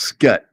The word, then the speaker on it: Scut: It's not Scott, it's Scut.